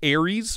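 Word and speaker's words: Ares: it looks like a weird stepchild of the Aries Maybe what yeah I'm not saying I'm not saying that it's identical or close but it has similar lines and it's pronounced Aries by the way it's the God of War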